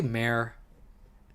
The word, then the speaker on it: mayor: But yeah, I just say mare. It's one syllable, and it's like the horse mare.